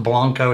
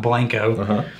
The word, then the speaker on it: Blanco: b n Co o it's actually pronounced Blanco not blank uh Blanco Texas and